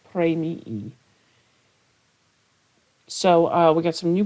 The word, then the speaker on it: premii: They've got this double I at the end, so you sort of pronounce both, premii.